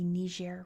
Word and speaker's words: Niger: in French as the Niger River. So it's one of those places that depending on what language you speak is how you pronounce the river.